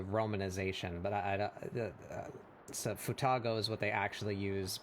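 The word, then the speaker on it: 双子: Futago is Japanese word read as futago is used to refer to twins.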